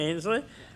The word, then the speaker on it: Ansley: Now we have a presentation, and the Pictou County Creative, Ansley, is that the right pronunciation? Yeah. Ainsley, is with us, and she's heavily involved with